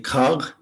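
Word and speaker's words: Kharg: right here you can see kag kag how it's pronounced right it is uh I guess you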